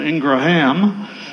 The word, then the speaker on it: Ingram: My grandmother would have insisted on the proper pronunciation, Ingraham, but Ingram was okay.